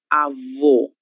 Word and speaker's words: avô: Essa palavra apresenta esse acento gráfico, que é o acento circunflexo, e ele nos indica que a pronúncia dessa letra deverá ser feita com som fechado. Então, é o, avô, ok?